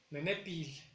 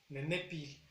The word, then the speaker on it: nenepil: Que por cierto, lengua en náhuatl es nenepil, con acento en la segunda E, nenepil.